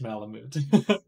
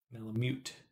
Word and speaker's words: malamute: I saying it like Malamute that's the only way I'd say it is that Malamute Malamute Malamute like you mute the sound in Malamute Malamute Malamute I don't know